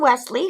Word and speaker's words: Wesleigh: But it's a YA fantasy about a princess named Wesley, who is named after my friend Angie's baby girl that died. And that's spelled Wesleigh, which I think sounds like a fantasy princess's name, don't you think?